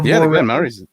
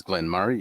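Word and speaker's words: Glen Moray: M Glenn Murray or Glen Murr the way SP m o r a y the way it's spelled Glenn M and the way that's meant to be said which is stupid is Glenn Murray yes yes I like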